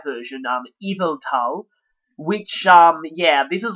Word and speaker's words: Yveltal: to be Y version, Yveltal, which, yeah, this is like, that weird Norse mythology thing, having a Y that's pronounced like an I.